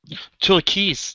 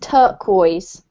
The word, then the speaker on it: turquoise: what this color says turkeys turkeys pronounced turquoise okay okay turquoise turquise